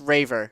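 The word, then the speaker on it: Reiver: to pronounce his name is it river revere san martin uh it's raver okay raver san martin uh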